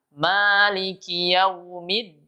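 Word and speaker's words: مالك يوم: tapi tapi salah h Ia adalah Maliki yaumid bukan Maliki panjang jadi kita harus memahami panjang-pendeknya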